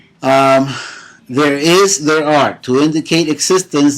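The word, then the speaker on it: hay: H is silent and Y at the end of a word sounds like an I.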